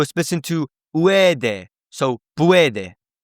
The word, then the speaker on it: puede: So puede, right?